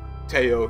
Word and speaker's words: Tello: Teo, not Tello, Christian Teo.